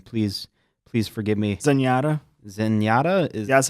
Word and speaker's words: Zenyatta: Zenyatta.